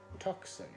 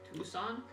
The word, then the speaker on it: Tucson: it from Orland to tuxen Tucson tuxen you're a monster sir it's how it's spelled yes and it's